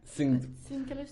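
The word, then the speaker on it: Syncellus: Sincellus. George. If you're pronouncing Latin the way it should be pronounced, then Sincellus. But some people say Sincellus, and they'd be wrong.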